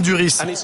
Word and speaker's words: Duris: laissez-moi y réfléchir romain duris la bonne prononciation c'est bien du risque que ça me pique à certains de mes collègues m'ont dit qu'on prend c'est du riz ok j'avais raison romain duris par exemple c'est un